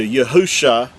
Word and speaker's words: Yahusha: spelled with 5 letters, which translates into Yahusha, and that's the original text. Now again, with vowel points, it's going to say Yahushua, and that's because they vowel pointed and added an extra